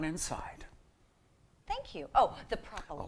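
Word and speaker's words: Propylaeum: Propylium.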